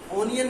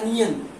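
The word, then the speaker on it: onion: ओनियन नहीं होता है, अनियन। इसका सही प्रोनाउंसिएशन क्या है, अनियन।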